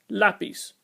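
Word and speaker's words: lápiz: be pronounced lapis but it has a an accent over the a so it voids the previous Rule and is always pronounced lapis great now let's move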